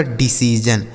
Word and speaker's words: decision: आगे लिखा है DECISION, तो DE से पढ़ेंगे डी, CI से पढ़ेंगे सी, और SION को पढ़ेंगे जन। यह लिखा है आपका डिसीजन।